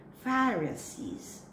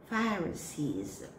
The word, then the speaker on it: Pharisees: Same group of people, we have Pharisees. Pharisees. This word can be a noun or a verb, but the same pronunciation.